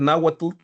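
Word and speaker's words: Náhuatl: Eh, yo prefiero decir nawatut porque es la pronunciación correcta naut para que lo anoten ahí, para que lo tengan listo para el examen.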